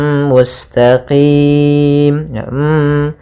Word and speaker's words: mustaqim: idamunah yaitu huruf mim cara membacanya kita masukkan tanwinnya ke mim sambil ditahan mustaqim kemudian mustaqim pada lafalqim